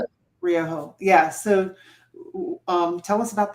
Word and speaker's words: Ryoho: How do you pronounce it? Ryoho.